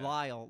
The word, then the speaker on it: Lisle: how do you say is it Lyle yeah Lyle Lyle Illinois I was afraid of saying because I was thinking like literally like I don't think that's how you say it beautiful Lyle Illinois for